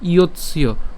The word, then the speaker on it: ইয়ৎস্য: এরপরের লাইনে ন ইয়ৎস্য, এখানে যেটা করলাম সেটা হচ্ছে ইয়ৎস্য, অর্থাৎ খণ্ডতের উচ্চারণ আমরা জানি যে ত হসন্তর মতোই হয়, তাহলে ইয়ৎস পর্যন্ত উচ্চারণ করে ইয়ৎস ইয়, তাহলে একসাথে যদি উচ্চারণ করি ইয়ৎস্য, ন ইয়ৎস্য।